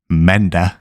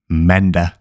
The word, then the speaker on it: mandag: Let's go through each one of them and pronounce them very slowly. First up is mandag, mandag.